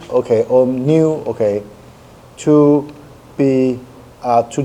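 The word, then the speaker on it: ν: uh that V okay actually should be pronounced as new okay but I mean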